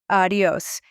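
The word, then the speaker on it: adiós: That would have to be adios. A D I O S with the accent on the O.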